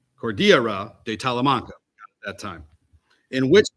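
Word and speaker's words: Cordillera de Talamanca: the Cordillera tala Morocco let me let me pronounce that properly Court Cordia Cordia cordira de talamanca at that time in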